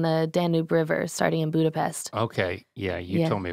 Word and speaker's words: Budapest: It's pronounced Budapest.